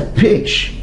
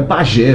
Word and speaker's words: pajé: curumins e o pajé a pronúncia é peix Flaviano Titã Flaviano pronuncia bem isso aqui eu eu falo baianês mesmo é Pajé mesmo é Pajé bem